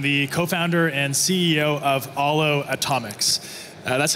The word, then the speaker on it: Aalo: Matt loac I'm the co-founder and CEO of Alo atomics uh that's how you pronounce that name and uh not to be